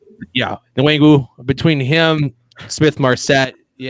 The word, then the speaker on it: Nwangwu: I'm not even going to try to how to pronounce his name. Kenny Nwangwu? Yeah, Nwangwu.